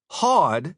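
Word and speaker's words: houd: So h o u d is going to rhyme with claw.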